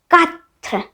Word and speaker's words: quatre: 4, FOUR English में, और French में quatre, quatre, QUATRE, quatre, quatre।